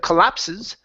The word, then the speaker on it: collapse: So, we have the word collapse instead of collapses. Okay. The word is collapse. The e at the end is silent.